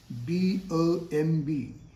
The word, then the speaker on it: bomb: B-O-M-B. Here once again, B is silent. So in place of bomb, say bomb.